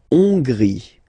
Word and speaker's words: Hongrie: La Hongrie. So remember, H doesn't exist, so you don't pronounce it. So it starts with O-N, on, and then gris. Final not pronounced. La Hongrie.